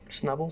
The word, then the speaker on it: Snubbull: for him today yeah snubbull stupid his name does rhyme with snuggle though and I wish